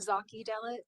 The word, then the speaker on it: Zaki Delit: It's Zaki Delit. Zaki Delit. Okay, thank you. Zaki. It's a Z, not an S.